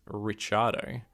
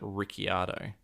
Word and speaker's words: Ricciardo: you think of the the australian formula one driver whose name is richardo uh his family who lives in perth actually pronounces it ricciardo so i think it just depends if the family wants to sort of anglicize it a little bit so well dan he's